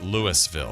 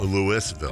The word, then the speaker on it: Louisville: Uh It's pronounced Lewisville. Lewisville.